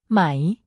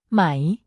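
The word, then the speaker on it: ไหม: natural and straightforward way it's pronounced with a rising tone meaning your voice should go up towards the end of the word it's easy to mix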